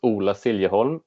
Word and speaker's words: Ola Siljeholm: So my name is Ola Siljeholm, is how you pronounce it.